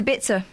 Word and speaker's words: Ibiza: Why do BBC presenters called Ibiza? Ibiza. It's Ibiza, according to the Venga Boys, and I've got no reason to question them.